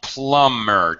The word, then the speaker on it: plumber: this guy yeah uh plumber don't pronounce the be plumber plumber mhm yeah that's